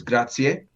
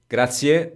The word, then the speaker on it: grazie: You do hear that E at the end, so E at the end, which a lot of people don't say.